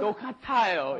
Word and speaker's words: 똑같아요: 똑같아요 is the correct pronunciation.